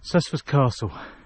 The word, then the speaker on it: Cessford Castle: Cessford Castle. That's how you pronounce it.